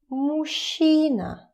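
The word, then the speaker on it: мужчина: It's pretty difficult to pronounce it as mina because those two it's difficult to put them together mina mushina when you try fast it's becoming uh kind of too much effort so you pronounce it as mushina machine and of course It's a man.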